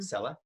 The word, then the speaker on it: ZELA: a different favorite seller song seller zelda that's actually how you pronounce it yeah everyone i speak